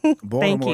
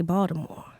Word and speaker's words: Baltimore: Well, some people pronounce the T. Jamal Bryant pronounced the T, but some people say Baltimore.